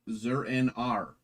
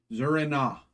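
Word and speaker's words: Zur-En-Arrh: Oracle, Catwoman, and Robin, Batgirl, Double Dare, and Zur-En-Ar. I always pronounce this wrong. Zur-En-Ah.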